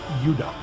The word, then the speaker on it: Judah: More properly pronounced, Judah. Because we didn't get the harder sound to the J until about 200 years ago.